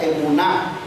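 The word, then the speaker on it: אמונה: En el hebreo, es una palabra que se pronuncia emuná.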